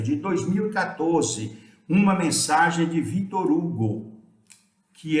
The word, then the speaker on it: Victor Hugo: Se vocês quiserem falar Victor Hugo, podem falar. Estão pronunciando a pronúncia autêntica francesa, mas eu reconheço que